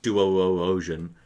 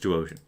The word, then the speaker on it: Duosion: And also, his name is not Duo Ocean, just Duosion.